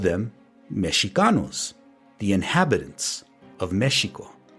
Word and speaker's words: Mexico: So when the Spaniards first encountered the Meshika people of Meshiko, they called them Meshanos, the inhabitants of Mexico. This pronunciation mesho eventually changed to the one we are all familiar with today, Mexico.